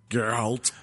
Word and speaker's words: Geralt: Geralt.